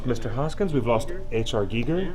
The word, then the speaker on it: Giger: Hoskins we've lost HR Giger G there not pronounced gger I think I think I think told me it's Giger who did you did yes it is it is Giger And The Fool on